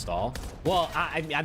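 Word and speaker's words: Staal: Cannot believe you knew it pronounced stall.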